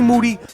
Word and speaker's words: Moody: Covington then being Moody last name rhymes with duty y'all gonna continue doing